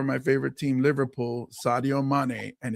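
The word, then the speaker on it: Mané: favorite team Liverpool Sadio Manet and it's pronounced mane like my name Manet so I call him my cousin and they won the African Cup of Nations Championship.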